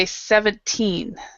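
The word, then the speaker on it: seventeen: So you have, with 70, the stress is in the front. 70. But with 17, the stress is here.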